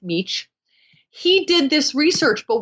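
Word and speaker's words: Mech: D- a v d m c but it's pronounced meech he did this research but what he did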